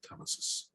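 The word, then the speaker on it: telesis: So um tellesis or tissis do you have a preferred pronunciation? I usually pronounce it tellesis.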